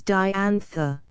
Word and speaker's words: Diantha: case it was longer her name is Diantha I've seen it on letters and it is one syllable longer any how I've got